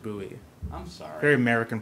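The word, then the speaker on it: Bouie: uh for slate there's there's actually no aent it's just buoy I'm sorry very American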